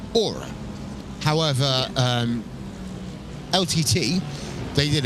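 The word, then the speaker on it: Oura: have a smart ring which is spelled o u r a which under normal circumstances you would call Aura however um LT they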